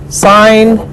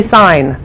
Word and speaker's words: sin: this represents sine so when you see this say sine don't say sin okay when you see